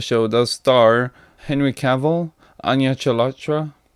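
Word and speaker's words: Anya Chalotra: does star Henry Cavill onion Elektra that's how you say it and Freya Allen this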